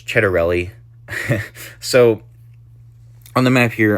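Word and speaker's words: Ciattarelli: Um, but anyways, a lot of people don't know how to say Jack Chedarelli either. Um, but it's Chedarelli.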